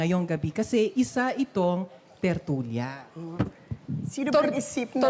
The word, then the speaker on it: tertulia: Tortilla baka mo. Parang nagutom bigla ang audience. Gutom na ba kayo? Tortilla baka mo? Hindi tortilla. Tertulia. And you have to roll your R's. Tertulia po.